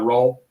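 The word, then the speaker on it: Ayrault: pronouncing names it's Brian it's dealt can you pronounce it's a-y-r-a-u-l-t Brian uh roll I CAA Sports he's represented boat Joey Bosa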